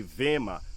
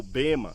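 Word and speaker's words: βῆμα: a gente chama isso em grego the vema ou bema como alguns pronuncia ficaria bem aqui atrás Tá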